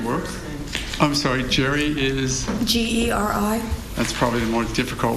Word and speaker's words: Geri: And the last name is spelled R-U-S-S-O. Yes. And where do you work? I'm sorry, Geri is... Geri.